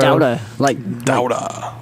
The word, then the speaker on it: Dauda: Dauda. Like Boston. Yeah. Boston accent.